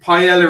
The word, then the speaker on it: paella: hi 212 people um paella is pronounced paella people don't say marbella okay polish thanks apologies